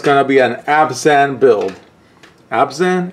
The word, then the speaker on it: Abzan: be an absent build abs in is how it's pronounced I wish you had